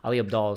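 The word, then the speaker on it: Ali Abdaal: Ali Abdal.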